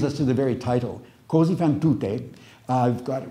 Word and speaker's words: Così fan tutte: So if you pronounce it così fan tutti, that means thus does everybody. But tutte means thus do all women.